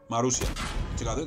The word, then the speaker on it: Marussia: Marussia.